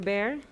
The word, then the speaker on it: Bear: Is it Dr. Bear? It's easy, just like the animal.